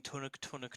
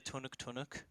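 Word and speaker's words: Tunak Tunak: I'm gonna get the lyrics, and we're just gonna do the Tunuk Tunuk. And Tunuk tunuk. all right, so you sort of want to make it sound like tun tun, like it's one syllable.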